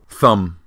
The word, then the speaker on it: thumb: Thumb. The letter B at the end looks like a child giving the big thumbs up to this app.